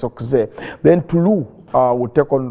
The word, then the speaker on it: Auxerre: Not Auxerre. Some people pronounce Auxerre. It's Auxerre.